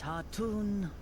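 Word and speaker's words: Khatun: apparently the K is silent. It's Han, not Ka. Or Khan.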